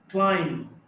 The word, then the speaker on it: climb: Climb, B is not pronounced.